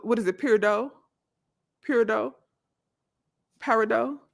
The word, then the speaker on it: peridot: Running through them again, peridot, red jasper, sunstone, black onyx, amber. Oh, you said the T is silent? So, what is it? Peridot? Peridot? Paradot? The T is silent. It's paradot.